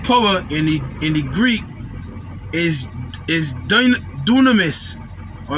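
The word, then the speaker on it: δύναμις: And this word power in the Greek is dunamis, or if I say it correctly, dunamis, D-O-O-N-A-M-I-S, dunamis.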